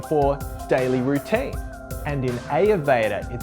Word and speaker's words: Ayurveda: ever did before anyways this brings me to ayurveda which is actually correctly pronounced ayurveda but i'm going to keep saying it the